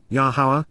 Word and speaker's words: Yahowah: foremost and beginning time of renewal, is Yahweh's, Yahowah, the proper pronunciation of Yahowah, our Eloah.